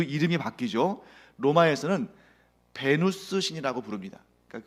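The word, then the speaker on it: Venus: 신화에서는 베누스 신이 되는데, 베누스 여신이 되는데, 베누스 하면 이게 무슨 신인지 좀 생소하잖아요. 근데 이게 왜 그러냐면 사실은 베누스라고 발음을 해야 되는데 이거를 자꾸 우리는 영어식으로 이제 전달받았기 때문이에요. 베누스를 영어식으로 발음하면 비너스입니다.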